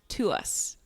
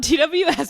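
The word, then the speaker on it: TWS: So glad you brought that up because I was looking at that and I found out that it's pronounced to us. What? It's not TWWs.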